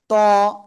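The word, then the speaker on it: ط: করবো এটার নাম হলো ত কোন জায়গা থেকে উচ্চারণ হবে জিবার আগা উপরে দুই দাঁতের গোড়ায় লাগাবেন লাগিয়ে মোটা আওয়াজে উচ্চারণ করবেন ত সবাই একসাথে বারবার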